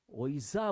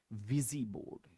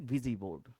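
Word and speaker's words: Ouija board: वेरीेंट वर्ड प्यारे बच्चों अब इसको आप ओइजा बोलते हो या क्या बोलते हो मुझे नहीं पता लेकिन मुझे इतना पता है इसकी एग्जैक्ट प्रोनाउंसिएशन है विजीबोर्ड याद रखिएगा प्यारे बच्चों एग्जैक्ट प्रोनंसिएशन इसकी क्या है विजीबोर्ड लेकिन अगर आप इसको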